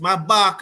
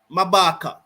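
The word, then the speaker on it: Maphaka: loss maaka as maaka I think his name pronounced maaka I think the name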